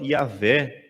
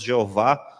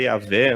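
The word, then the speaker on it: Yahweh: língua hebraica se chama Yahé. Nós falamos Jeová, né, mas na língua hebraica é Yahé, um nome que nem sequer se podia pronunciar.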